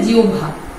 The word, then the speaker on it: জিহ্বা: তারপরে হচ্ছে জিহ্বা, শুদ্ধ উচ্চারণ হচ্ছে জিহ্বা।